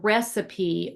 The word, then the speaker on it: recipe: be remembered, such as the final E in recipe or is voiced, and the final T in depot is silent.